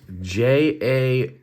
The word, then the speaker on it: Jagt: So it's Jagt, Jagt. The boys over at Giant Mouse are Danish, and I'm German. Pretty sure it's pronounced the same way either way, and probably means the same thing.